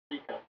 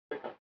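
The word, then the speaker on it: сука: They all say Suka, Sika, and it's Suka. Like it's, I know it's one of the hard. It's got to say it quickly, somewhere in between a U and a Y with that.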